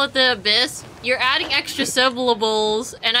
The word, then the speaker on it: abyss: the Y though but the thing is you don't really pronounce the Y you call it the abyss that would be just